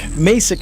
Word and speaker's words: Macek: Macek is the way it's supposed to be said. The guy that does the professional pronouncing, whenever he cut the liner, he says Macek.